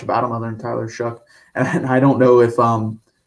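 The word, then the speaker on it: Shough: I think it's Shuck. It's a weird pronunciation for how it's spelled, but it depends on how he plays for Texas Tech.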